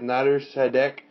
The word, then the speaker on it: Nader Sadek: The one, the only Nader Sadek. The one and only, yeah. I'm also just excited because I'm pronouncing it right and not making an ass of myself.